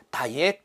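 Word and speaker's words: DIAC: 그래서 다이액 또는 다이악으로 발음을 하며, 다이악은 트리거 펄스를 발생을 시킵니다.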